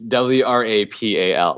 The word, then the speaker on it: Wrapal: Is it Rappel? Rappel? I know, exactly. So it's WRAPAL, like wrap a location, which is actually what inspired the name.